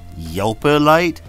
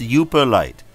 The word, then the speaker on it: Yooperlite: was all yoper light you just say yelper light it's pronounced you perlite this is your video